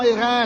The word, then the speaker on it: Hérens: L'accueil du Val d'Airain, on dit bien Airain en France, on entend Airain.